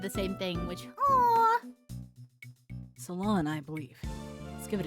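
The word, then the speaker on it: Ceylon: Is it salin pronunation? Oh no, it's it's salon. Salon. Salon. Salon tea. Oh, it's salon. Okay, it's salon.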